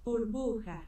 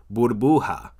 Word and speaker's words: burbuja: Burbuja. Burbuja. Burbuja. Burbuja. Now that word sounds a little bit familiar, and I'll tell you why it sounds familiar. Burbuja rhymes with bruja.